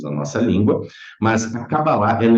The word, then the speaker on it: Kabbalah: escrito Kabbalah com C, às vezes com K, a sua própria pronúncia é com Q, é Kabbalah, tá?